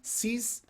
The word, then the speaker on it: siz: Yes, verb and the person pronoun siz and is.